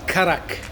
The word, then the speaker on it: karak: I think phonetically in the Indian language it is karak.